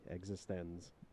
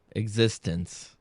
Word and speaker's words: eXistenZ: And you have to say it like that. Capital X, capital Z. eXistenZ.